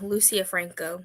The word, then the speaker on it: Lucia Franco: don't know how to say this author's name Lucia Franco is that how you say it yeah Lucia Franco yeah okay awesome fantastic okay so um I